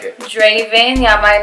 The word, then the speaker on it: Draven: Draven's different. How do you say his name again? Draven.